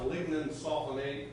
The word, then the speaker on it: lignin sulfonate: It's pronounced lignin sulfonate.